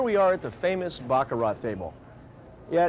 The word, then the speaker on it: Baccarat: And here we are at the famous Bakarat table. Yeah, it is spelled and pronounced Bakarat, not Bakarat.